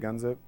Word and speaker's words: gunzip: the uh RAM dis is just a g gunzi is that how you say it gunzip okay a gunzip cpio file so if you